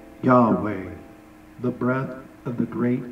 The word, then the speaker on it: Yahweh: But the Hebrew would be pronounced something like Yahweh, expressing the word for I am.